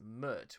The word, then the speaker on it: Pmurt: And Trump spelled backwards is Mert, which rhymes with hurt, and he would badly Mert this country in office.